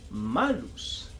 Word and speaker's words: malus: maldad, eh también es un adjetivo que se pronuncia malus, que significa maldad.